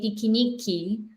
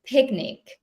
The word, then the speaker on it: picnic: We don't say piquenique, we say picnic, right?